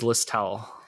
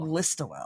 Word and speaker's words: Listowel: you say what listol i thought it was list towel i mean the word towel is in there i'll give you that how do you say it steve listawell listowel listowel like listerine okay okay yeah that makes